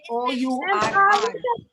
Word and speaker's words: hour: H is silent. An So होगा we ma'am. say OURR.